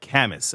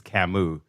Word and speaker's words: Camus: a little bit uh albert uh kamis i i don't think that's how you pronounce this i think it's camus c-a-m-u-s he said life should